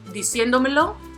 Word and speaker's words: diciéndomelo: Then diciéndomelo, which means to tell me or telling me. The accent is going to fall on the 2nd syllable, which is the 4th to the last.